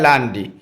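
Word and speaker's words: lundi: Thursday Friday Saturday Sunday L यू एन डी आई लांडी उसको Monday बोलते हैं English में और फ्रेंच में उच्चारण होता है लांडी उसके बाद ट्यूजडे को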